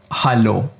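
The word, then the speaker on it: Hallo: Hello. You know what it is. But if you look closely, it's with an a, not an e. And if you remember, a is a in German.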